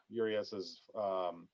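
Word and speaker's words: Urías: struggle to pronounce Luis Urias's last name, and of course the Spanish pronunciation of it is Urias.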